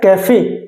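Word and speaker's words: café: लेकिन एक्सेप्शन देखिए अब सी ए एफ ई अब यहां पे ये क्या है? कैफे तो यहां पे ये अलग से अपना इ जो है अपनी साउंड क्रिएट कर रहा है यानी ए की साउंड दे रहा है।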